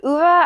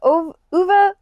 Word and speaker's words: Ove: Next, we have A Man Called Uva, I believe it's pronounced, but I like to say Ove in my head.